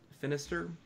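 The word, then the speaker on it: Finistirre: plays a senator finished Finister it rhymes with sinister because who's campaigning against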